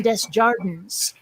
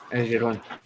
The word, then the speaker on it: Desjardins: And also a lot of names and things that are French words are pronounced phonetically by Vermonters. Like, for example, I went to school with a Bonnie Dubois and a Jason Desjardins, and that's how they pronounce their own names.